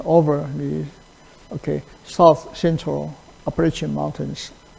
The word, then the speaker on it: Appalachian: the, okay, south central Appalachian Mountains. Its pronunciation is Appalachian, okay, Appalachian, okay, Appalachian.